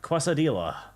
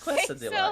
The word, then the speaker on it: quesadilla: It's quesadilla, Queso. isn't it? Quesadilla. Oh, quesadilla. It says right there. Quesadilla. No, I think she's right. I think like this. I think it may be K.